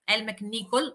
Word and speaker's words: Elle MacNicol: Di questa autrice scozzese, Elle MacNicol, pronuncio giusto? Giusto, che è al suo